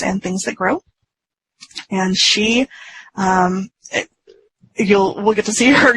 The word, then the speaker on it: Sidhe: It sounds like she. It is. It looks like the word she, like the female pronoun.